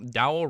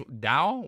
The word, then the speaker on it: Dao: Does rhyming with wow? Dao rhymes. Dao. Wow.